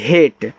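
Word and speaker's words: hate: एच ए टी हेट एच से आपका हां ए का उच्चारण तो एक ही मात्रा के रूप में करोगे कि भैया लास्ट में ई है एक लेटर छोड़ के और टी से आपका टा हेट इसका उच्चारण नहीं होगा और हेट का मतलब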